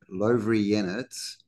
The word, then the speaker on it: Lovrijenac: In addition to the forts incorporated within Dubrovnik's walls, a visit to the freestanding fort, pronounced Lovrijenac, or Fort Lawrence, is a vivid reminder that medieval Dubrovnik was seriously concerned about threats from the west, both by land and sea.